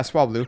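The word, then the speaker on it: Swablu: Yeah, Swablau. And then the evolved version, which I always forget how to pronounce properly.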